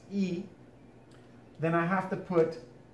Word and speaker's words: y: would get replaced by the letter Y which is pronounced e however I cannot leave